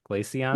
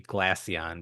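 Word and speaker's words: Glaceon: um I say glacon is that the correct pronunciation glacon yeah glacon yep okay I I was thinking it could be glasson but um yeah glacon is what my brain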